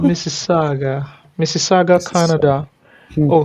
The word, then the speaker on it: Mississauga: It's called Mississauga. Mississauga, Mrs. Canada. Hmm. Oh, he even now put it in bracket, pronounce Mississauga.